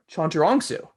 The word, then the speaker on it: Chantarangsu: so try it again you're gonna spell it out it's exactly like it's spelled oh really okay oh chondrongsu yeah oh wait okay